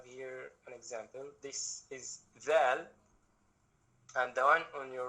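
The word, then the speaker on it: ذال: Zal, you say it when hanging out your tongue between your teeth, so it becomes Zal.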